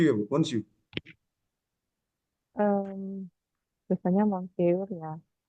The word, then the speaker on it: Monsieur: Itu tadi bacanya Monsu, Monsu ya, Bu? Monsu. Em, biasanya Monsieur ya.